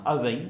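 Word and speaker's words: abhainn: Hein, Avein, on le prononce à peu près de cette façon.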